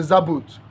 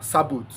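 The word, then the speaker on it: Sabaoth: out good isumu isumu is the zabot or sabot depending on your pronunciation sabot is s a b a o t h zabot is z a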